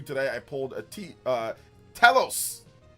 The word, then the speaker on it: Telos: I pulled a Telos. Telos, not Telos. Telos. People get mad when I pronounce things.